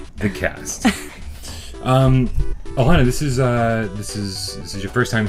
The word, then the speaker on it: Alana: Did I pronounce that right? Is it Alana? Alana.